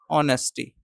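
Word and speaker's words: honesty: और ऑनेस्टी में H silent होता है। एच इसमें साइलेंट होता है। इसको पढ़ते हैं ऑनेस्टी।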